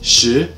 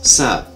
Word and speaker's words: 食: Comprised of different ideograms, for example, this symbol, meaning wet, is pronounced in Mandarin as shi, but in Cantonese as sa, meaning that the script can allow people of certain differing languages to communicate by writing.